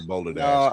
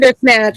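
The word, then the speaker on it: Bandersnatch: It was Black Mirror or Boulder Dash. I think it was Black Mirror Boulder Dash. Or am I am I mispronouncing it wrong? Ber Snatch. Bander Snatch. Bander Snatch.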